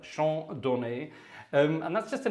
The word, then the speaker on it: Chant Donné: Some of you know it as Chant Donné, Chant Donné, if you want to pronounce it in a terrible French, but Chant Donné.